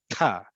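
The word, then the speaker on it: ת': we condense it to simply ta, and you make it implosive, meaning that your tongue is right behind your teeth, and you implode with the burst of air from your throat to make it sound even more emphatic.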